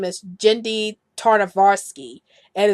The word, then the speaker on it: Tartakovsky: gen D and I think I said I pronounce his last name is genndy tartakovsky and it's really taarna kvass Tartakovsky you see